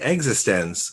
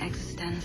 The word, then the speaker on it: eXistenZ: exit stems it's e capital x i s t e n capital z existence from antenna it has a very specific pronunciation excellent now do you would you like